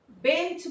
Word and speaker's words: বেঞ্চি: মূল শব্দটা হচ্ছে বেঞ্চ, তার সঙ্গে আমরা কি যোগ করেছি? উচ্চারণের সুবিধার জন্য একটা হস্যই যোগ করে নিয়েছি। দেখো তাকিয়ে, এই হস্যইটা কিন্তু ছিল না। তাহলে শব্দের শেষে এখানে মাঝখানে দেখতে লাগছে, কিন্তু উচ্চারণ করার সময় খেয়াল রাখতে হবে কোথায় উচ্চারণ করছি। বেঞ্চি, ই, ঠিক আছে? শেষে উচ্চারণ করছি।